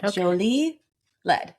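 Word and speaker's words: Jolie-Laide: It's from 2022 and it's from the winery Jolie Le. I double checked I'm saying it correctly. Jolie Le.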